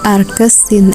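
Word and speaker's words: arcsin: ya Sin ^ -1x Tapi bacanya bukan pangkat min 1x melainkan arkes Sin X Lalu bagaimana dengan grafik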